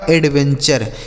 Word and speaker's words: adventure: आगे ADVENTURE, तो AD से दोस्तों हो गया एड, ठीक है, VEN से हो गया वेन, और TURE का उच्चारण हो गया चर, यह लिखा गया आपका एडवेंचर।